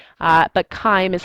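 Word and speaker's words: chyme: h y m e looks like chime but spelled wrong uh but Kim is how you pronounce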